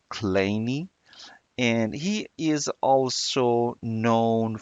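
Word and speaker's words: Kleene: was invented or introduced by American mathematician Stephen colini yeah his name you know did the pronunciation of his name is a little bit different so it's claimy and he is also known for the vs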